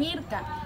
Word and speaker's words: IRCA: Las siglas de este se pronuncian IRCA.